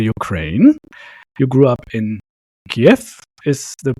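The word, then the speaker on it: Київ: You grew up in Kyjiw. Is the pronunciation right? Kyjiw? Yeah, it's to be sure. Actually, need to say Kyjiw. Its original name Kyjiw.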